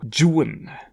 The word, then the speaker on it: Juan: the original English version it is my impression that Byron pronounced the name of his hero Jan so I shall pronounce it Jan whenever talking about Biden's character and whenever talking about the hero of traditional Legend I shall say Juan which I believe to be the correct Spanish pronunciation from what I can